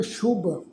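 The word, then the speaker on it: ਸ਼ੁਭ: ध्यान रखो जी असीं पाठ उच्चारण किया शुभ ससे पैर बिंदी लगा के पाठ उच्चारण करांगे शुभ।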